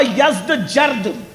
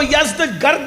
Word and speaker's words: یزدگرد: اس کا بیٹا تھا جس کا نام تھا یزدجرد، اس کو یزدگرد بھی کہتے ہیں ایرانی لب و لہجے میں، عربی میں یزدجرد کہتے ہیں۔ ایرانیوں کی جنگ ہوئی